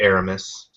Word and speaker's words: Aramis: who you're talking about it's just B uh mispronounced I'm assuming you meant Aramis but uh yeah I like